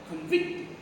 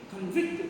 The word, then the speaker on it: convict: We have to stress on the second syllable. Convict, we have to correct pronunciation is there. Convict. Convict, we have to pronounce.